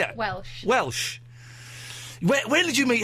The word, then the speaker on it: Welch: Is that the same as Raquel Welch? Yeah, Raquel Welch. How do you say it? Welsh.